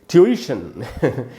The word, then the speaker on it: tuition: तो दोस्तों इसका उच्चारण है, ब्रिटिश उच्चारण बता रहा हूँ आपको, ट्यूशन ऐसे बोला आपको, ट्यूशन, ट्यूशन। ई पर स्ट्रेस है, ये जो ई है यहाँ ज़्यादा देर तक रुकना है, ट्यूशन, ये इसका करेक्ट प्रोनाउंसिएशन है।